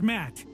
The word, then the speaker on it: Matt: not an inch less the name's Matt the second T is silent sure sounds like an